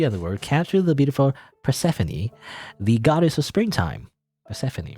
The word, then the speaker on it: Persephone: persephone persephone pacific google how do you pronounce persephone pronunciation is there a way to pronounce i'm gonna google pronunciation of this of this name persephone persephone persephone persephone persephone that's that's how you say that word persephone persephone all